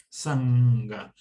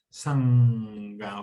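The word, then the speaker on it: सङ्ग: apego o sea sanga sanga se dice poniendo la n pronunciando la con la punta de la lengua sobre la parte interior de los dientes sanga o sea se hace con la garganta sanga hay cierto amor afecto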